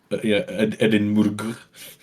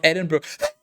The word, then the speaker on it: Edinburgh: Or how a lot of foreigners pronounce it. Edinburgh. I think it's actually pronounced Edinburgh.